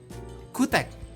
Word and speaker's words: CHOETECH: ini adalah brand namanya Gimana cara bacanya Ya kutek betul Iya itu itulah choetech